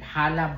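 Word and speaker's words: challah: Hala bread ang tawag nito. Pero kung babasahin mo siya no i-pronounce mo siya para siyang tala. Chala so hala bread.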